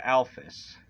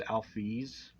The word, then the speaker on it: Alphys: smart as sans and alphys oh yeah and real quick before you come at me for saying alphys when it's alfies there is at no correct